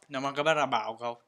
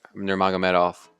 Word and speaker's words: Nurmagomedov: Nurmagomedov. No one knows how to say his name. Nurmagomedov.